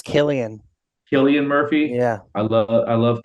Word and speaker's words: Cillian: Is it how do you pronounce it? Is it Cillian Murphy? How do you pronounce I it? think it's Killian.